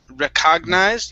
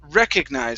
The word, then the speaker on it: recognized: And this word here, instead of recognized, yeah, it's recognized. So the stress is at the very beginning.